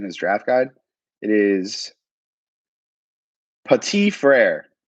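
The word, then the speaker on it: Petit-Frère: draft guide it is petite frere pati frere silent tea petite frere yeah so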